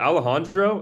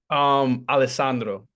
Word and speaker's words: Alessandro: Is it Alejandro? Is that how you say it with the S's? Alessandro is Italian instead of, you know, It's traditionally not a J.